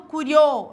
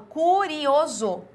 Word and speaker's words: curioso: que eu tenho imo não falo curió eu falo curioso tá então aqui eu